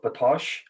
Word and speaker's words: Batoche: in what was called the battle of batoche am i pronouncing that right yes you are could you tell us